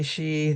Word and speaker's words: Xi: of China Xiinping okay she the X it's pronounced like that but people are looking